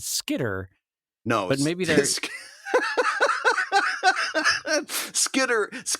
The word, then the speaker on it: Skitter: out, and I think there was a little bit of a hard T there where I would pronounce it Skitter.